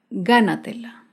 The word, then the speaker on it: gánatela: Por último, un ejemplo con la palabra gánatela. Gánatela se acentúa en la sílaba anterior a la antepenúltima sílaba.